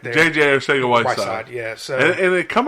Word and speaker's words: Arcega-Whiteside: So and it come out that the pronunciation on that is supposed to be Arthega, which is weird to me. Like I gotta verify that a little more. Yeah. But I heard today that it's supposed to be pronounced with like a TH sound to make it sound Ortega-Whiteside.